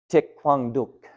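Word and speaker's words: Thích Quảng Đức: want to give him his proper do and pronounce his name correctly tick Kwang duuk was his name and at the photo won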